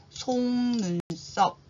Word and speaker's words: 속눈썹: 어 위에 있는 것을 눈썹 그리고 눈에 바로 붙어서 나는 것을 속눈썹 요거는 발음을 송눈썹 발음을 합니다.음 그다음에 우리 까딱하다가 무슨 말인지 알아야 되겠죠?